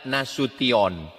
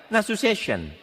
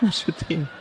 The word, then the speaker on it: Nasution: Cara membacanya Nasution. Ada pula pembawa acara yang baca Nasu Session. Nasution.